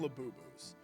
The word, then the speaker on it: Labubu: had an episode featuring labus. And during that episode, they said that laboo were demonic. They had a whole pazuzu thing, and labu rhymes with pizuzu.